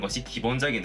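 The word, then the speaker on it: 鉢: 기본 발음 은 " 하치 " 입니다 .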